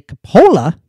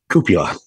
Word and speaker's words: cupola: Atop The egg-shaped craft was a Coppola what's a Coppola cupola cupola what's a cupola it's a it's like